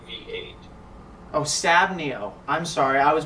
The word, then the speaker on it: SabNeo: SabNeo V8. Oh, SabNeo. I'm sorry, I was mispronouncing it.